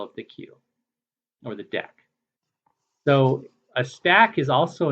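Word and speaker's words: deque: on to Dex so now we move to deck and I've heard it called dqs before but DEC is the crop proper pronunciation and the reason is is because the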